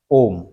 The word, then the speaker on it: ओम: जाता है ठीक है जैसे हमें प्रोनाउंस करना है ओम तो हम जब भी प्राणायाम आदि करते हैं तो ओम ऐसा कुछ उच्चारण करते ठीक है यह उच्चारण हम इसीलिए करते हैं लंबा इसीलिए खींचते हैं क्योंकि ओ के आगे हिंदी की गिनती का यह तीन वाला निशान लगा होता है ठीक है तो